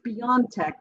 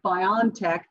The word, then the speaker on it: BioNTech: and by the way it is beyond tech because the rest of the world other than the english-speaking world pronounces an i like an e so whenever you hear somebody say biontech they don't understand that this is a german company i just say that